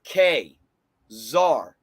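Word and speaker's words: Ka-Zar: Phonetically, guys, the proper pronunciation of this is K, czar. The reason why it's K is because the hyphen breaks the syllables.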